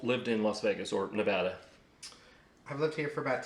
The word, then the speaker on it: Nevada: do you do you still say nevada it's nevada yeah i've never said it in the freaking drive a dmv here in henderson it says on the wall it's pronounced nevada yeah i've never said i've never said about